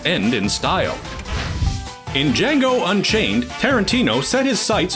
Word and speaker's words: Django: The director introduces a heroic, emancipated slave named Django. The D is silent.